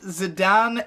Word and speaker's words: Zidane: yeah, I'm just saying, I always called him Zidane. It is actually supposed to be pronounced Zidane, but who gives a fuck?